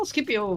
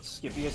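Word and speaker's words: Scipio: MTH uh okay so it's not uh it's not skias it's skipio skipio africanos uh he was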